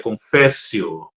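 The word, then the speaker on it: confessio: Confissão tem origem na língua latim e a pronúncia no latim seria confécio, mas o significado de confio é reconhecimento, admissão, revelação.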